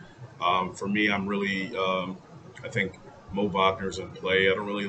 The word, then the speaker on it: Wagner: From a DFS perspective, I think Mo Wagner, I don't know why I said Wagner. They pronounce it Wagner.